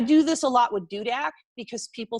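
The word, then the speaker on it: Dudek: I do this a lot with Dudak because people spell it 18 different ways. It's super easy, D-U-D-E-K. It's not that hard. It's dude with a K, but people spell it Duder, Dudick, Doder, like, it's cool.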